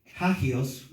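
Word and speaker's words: ἅγιος: Entonces, santo, ese es el término griego hagios, con J-A-G-I-O-S, puedes ponerle acento en la A, santo, del griego hagios, y se traduce consagrado para Dios.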